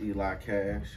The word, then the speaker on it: ElixCash: well my name is eli cash uh on instagram is eli x cash the ex is silent it's just because i